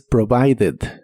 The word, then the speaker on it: provided: En este caso sí se pronuncia como ed, pero con la E muy suave.